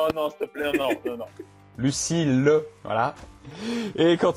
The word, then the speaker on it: Lucile: Bon, bah, merci encore, Lucie. Lucille, oui, c'est mieux. Ouais. Tu vois la prononciation que je disais au début de podcast. Panier piano. Ouais, non, s'il te plaît, non. Lucille, voilà.